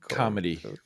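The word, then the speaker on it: comity: comedy sure yeah they're I think they're both pronounced comedy I have to say it the other way because I pronounce things the way they're spelled homonyms are fun see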